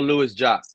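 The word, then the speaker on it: Louis-Jacques: I think it's pronounced Marcel Lewis Jock. I think that's how it is. I don't think it's Jacques.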